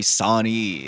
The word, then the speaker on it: Rey Sani: The name is Sani. REY space SANI. I'm Really like happy when people do that, like actually spell it out.